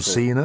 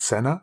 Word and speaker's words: Cena: And I've learnt that, John Cena is pronounced Cena and not Senna, which is what it would be in Slovak.